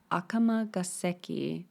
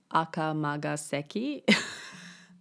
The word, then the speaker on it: Akamagaseki: It's Akamagaseki, not Akamagaseki. The story of Mimi-Nashi-Hōichi.